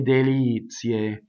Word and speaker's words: delizie: Okay, so not le delizie, but le delizie. Now, delizie, we have the accent is on the E, so we know that all of our E's are A.